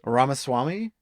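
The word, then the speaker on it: Ramaswamy: ramaswami how do you say his last name ramaswami Vivic ramaswami he's actually popular with the kiddos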